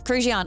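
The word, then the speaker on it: Krujian: Yes, Kruian. I've got notes. And that is spelled K R U.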